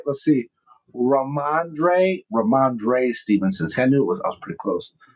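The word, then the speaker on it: Rhamondre Stevenson: Ramondre Stevenson. Did I say it right? Let's see. Ramondre Stevenson.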